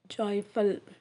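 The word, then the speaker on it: जायफल: எப்படி pronounce பண்றதுனா ஜே A pitch A எல் ஜாய்ப்பல் தமிழ்ல ஜாதிக்காய் ஹிந்தியில நெக்ஸ்ட் வேர்ட் அஜ்வைன் அதை ஹிந்தியில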